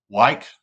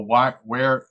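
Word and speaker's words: Wyeth: Wyke Laboratories was the defendant in a case in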